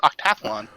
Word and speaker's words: OctaTHLon: pronouncing it hold on is that how we're pronouncing it no it's octathlon uh yeah i don't know i didn't know the official pronunciation the capital thl is just for branding purposes not for pronunciation purposes but i do appreciate